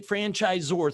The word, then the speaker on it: franchisor: little different zor z because we say franchisor three syllables we say that like